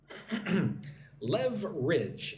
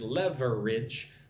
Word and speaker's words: leverage: Leverage. Leverage. It looks like this word is leverage, but don't say it like that. Just 2 syllables. Leverage.